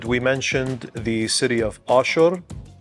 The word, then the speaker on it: Ashur: And we mentioned the city of Ashur, pronounced Ashur.